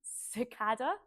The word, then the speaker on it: Cicada: I've forgotten it again it's Sada um like the bug and um they're both very well known groups is it sakada or cicada it doesn't matter cada